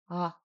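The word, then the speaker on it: ཨ: This is Ah. Ah. Ah. Now, this is hard because you think, oh, it's just Ah, but it's not.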